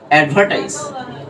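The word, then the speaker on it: advertise: প্রোনাউন্সিয়েশনটা কি হবে জানো এডভার্টাইজ অ্যাডভার্টাইজ এই আর টা কিন্তু সাইলেন্ট থাকবে যদি তুমি ব্রিটিশ এক্সেন্টে উচ্চারণ করো তাহলে এটা কি হবে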